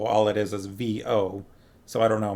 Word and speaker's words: Vo: And I'm assuming it is actually pronounced Vo. All it is V-O. So I don't know, maybe it's like woe or something like that, but I've been saying Vo.